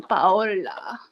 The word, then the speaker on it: Paola: So we call you Paola in this house. The Spanish pronunciation, Paola.